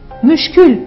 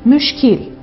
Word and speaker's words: müşkil: Müşkül değil müşkil.